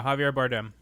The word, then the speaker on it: Javier Bardem: Who does Oscar winner Javier Bardem play in the film Skyfall? I hope I said that right. I don't know if I said it right. Yeah, Javier Bardem. Okay, good.